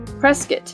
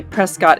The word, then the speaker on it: Prescott: Fort Whipple served as the temporary territorial capital until replaced by a new founded Prescott. Many people say Prescott, Arizona, but it's pronounced Prescott, like biscuit, in 1864.